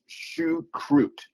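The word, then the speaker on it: choucroute: Shakrery, pronounced shukrut.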